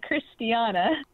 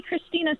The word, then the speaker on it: Christiana: And yeah, it's Christiana. Oh, good. It's always tough when someone mispronounces your name. So yeah. Oh, yeah. People call me Christina so often that my aunt, who